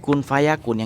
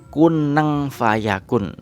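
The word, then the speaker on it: كُنْ فَيَكُونُ: Nah, kalau di slow motion itu kunang fayakun. Tapi kan bukan slow motion bacanya. Kun fayakun. Innama amruhu idza arada syai'an ayyaqula lahu kun fayakun. Nah, jadi bacanya seperti itu.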